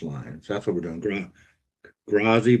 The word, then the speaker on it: grazie: Grazi, but it's not a grazie. It's how you say it. Gratzi.